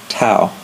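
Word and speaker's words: tau: the symbol for torque is the Greek letter to that is the lowercase letter to and in English the way you spell it well first of all this is kind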